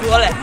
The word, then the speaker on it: Zwolle: Zwolle. Zwolle. Zwolle. Zwolle. Oh. It's Zwolle. Yes, MK? It's Zwolle. Zwolle. Yeah. It's a little bit less emphasis on the Z.